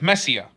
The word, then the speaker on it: Messiah: made a contract with Messia. It's spelled Messiah, but the characters pronounce it Messia, so...